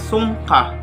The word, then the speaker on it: sungka: Sungka, pronounced as sungka, is a two-player turn-based board game wherein the players are compete to obtain more stones than the other.